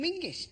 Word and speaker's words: Menzies: In fact, you should pronounce it John Mingus. Apparently, it's to do with a defunct Scottish letter Zog.